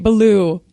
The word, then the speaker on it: Baloo: Oh, it's also Baloo, not Baloo. Baloo. Baloo. Okay, what is it? If we say it right, Baloo.